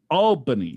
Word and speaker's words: Albany: things brian from albany is pronounced albany albany not albany not al like bill big albany albany right brian albany yes it's